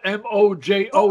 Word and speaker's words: Mojo: I'm Puerto Rican. If it's spelled M-O-J-O, it's Mojo.